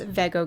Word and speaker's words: Vego: you want so sorry about that it is pronounced veggo Garden but anyway right now we're assembling the